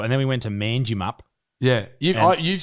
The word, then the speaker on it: Manjimup: oh Manji map stupid name I still don't think that's how it's pronounced it's manjimup manjimup Benji mangy they call